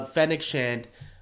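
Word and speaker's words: Fennec Shand: and fennick knew fennechand i knew it was pronouncing the name right wrong uh fennec shant uh you know some people thought maybe around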